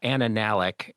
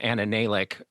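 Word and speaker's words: Anna Nalick: our show 20 years ago named uh uh Anna Nalik, and I mispronounced her name, Anna Naik, uh 10 times to the point where she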